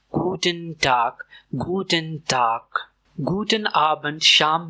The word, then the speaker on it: Guten Abend: और इसकी प्रोनाउंसिएशन है गुटन डार्क गूटन डार्क गटन डार्क गूटन आबंट शाम में इस्तेमाल होता है मोस्टली डिनर के बाद।